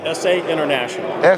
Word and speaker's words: SA International: SA International.